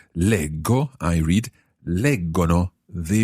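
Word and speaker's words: leggo: the third person plural because in both those parts the j of the infinitive legere becomes a hard g sound lego i read lego no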